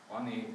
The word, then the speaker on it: Ani: Ani, that's how you pronounce it.